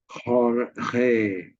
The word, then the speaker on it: Jorge: And she said, Jorge, Jorge. So I said, what is that? Jorge is John, but George. But how is it that J and G are both being pronounced as H and H?